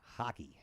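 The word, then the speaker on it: Haake: think he likes hockey I bet it's spelled differently h a a k e hockey but you know why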